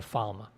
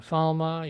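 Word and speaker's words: Falme: Perrin is in a sort of horse and carriage being transported, I'm guessing to Falma, which the show is pronouncing Falm. I don't know. I always pronounce it Falma from the books.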